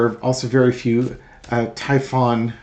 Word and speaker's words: Typhon: Uh add additionally, there are also very few uh Typhon I thought don't suppose that's Typhoon, but it's spelled Typhon systems available which Ukraine needs to launch the Tomahawk.